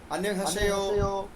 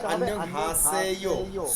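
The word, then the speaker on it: 안녕하세요: কিন্তু আমি প্রায় সময় খেয়াল করে দেখতাম আমার স্টুডেন্টরা বলতো আন্যং হাসেয়ো, যেটা কিনা কানে খুব লাগে। তো এটা হবে আন্যং হাসেয়ো, স এর মতো।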